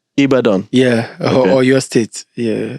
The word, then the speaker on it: Ibadan: do you how do you say it again ibadan ibadan yeah or your state yeah yeah so I'm